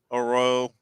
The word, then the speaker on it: Poirot: Well, we got the Poirot. Is that how you say it? Mm-hmm. Poirot, yeah.